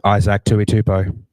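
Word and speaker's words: Isaac Tuitupou: How do you pronounce it? Isaac Tuitupo.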